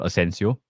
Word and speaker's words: Asensio: So Joshua says they also have Asensio. Rhymes with Consensio.